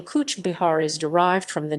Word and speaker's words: Cooch Behar: Cooch Behar District, pronounced Cooch Behar, is a district of the state of West Bengal, India, as well as the district's namesake town.